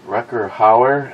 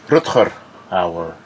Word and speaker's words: Rutger Hauer: McLean, Sharky looks like Rucker Hauer and Miles had a baby. Rutger Hauer. At least pronounce his name properly. He's Dutch.